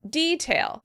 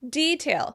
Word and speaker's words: detail: In British English, they tend to pronounce it detail. Detail.